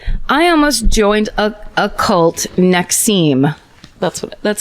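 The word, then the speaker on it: NXIVM: a cult great I almost joined a cult next seem that's that's how you pronounce it next CEO that's the branding one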